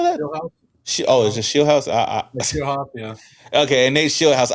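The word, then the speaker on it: Scheelhaase: Shieldhouse, yeah.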